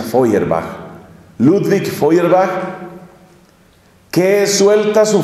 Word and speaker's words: Feuerbach: El siglo XIX es el siglo de un hombre llamado Ludwig Feuerbach, que se escribe Feuer, B-A-C-H. Se pronuncia Feuerbach.